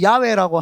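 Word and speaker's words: 야훼: 있고 다 있는데도 정확하게 야외라고 하는 이름을 딱 가지고 옵니다. 이거를 한국말로는 여호와라고 지격을 했는데 정확한 발음은 야회입니다. 야외. 야가 정확한 발음입니다.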